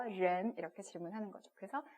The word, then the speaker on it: 人: 가볍게 그냥 른 이렇게 발음을 하시면 되기 때문에 네, 약간 꽈다라는 느낌만 주시게 발음을 하시면 됩니다.